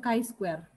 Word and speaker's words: chi-square: uji binomial uji ini tulisannya chi-square tapi kita bacanya Kai Square ya Uji chi-square 1